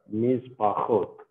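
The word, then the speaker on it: מִשְׁפָּחוֹת: Mispachot. Mispachot. See, here, pronounce it with the guttural. Mispachot.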